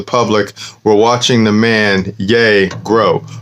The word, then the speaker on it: Ye: or yay you know he spells it y e but he pronounces it yay but when you see